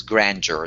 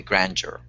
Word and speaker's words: grandeur: it's not Grandeur it's Grandeur the stress in the first one yes yep stress on that first syllable good okay Grandeur okay thank you good